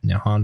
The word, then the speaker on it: Nihon: The Japanese, the name for Japan in Japanese is written using kanji pronounced Nihon before it was adopted in the early 8th century.